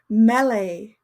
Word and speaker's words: melee: Mele tough pronunciation.